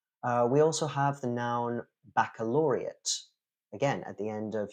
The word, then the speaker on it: baccalaureate: We also have the noun baccalaureate. Again, at the end of your studies in high school, in a lot of countries, you take the baccalaureate. So that's ATE at the end, but it is ut.